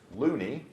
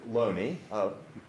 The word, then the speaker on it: Looney: about this man's name notice it's spelled with two o's so it could be pronounced looney my understanding is the family pronounced it lonely obviously you can see